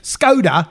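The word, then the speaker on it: Škoda: move actually why because scod reminds me of all the jokes you used to have about scod no but that's how you say it in the language I know yeah but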